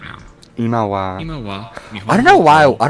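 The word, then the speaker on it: は: Wa, which always sounds like wa. but you'll see this Watashi wa. symbol a lot. You'll What see ha, but it's pronounced like wa.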